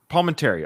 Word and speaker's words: Palminteri: Palminteri.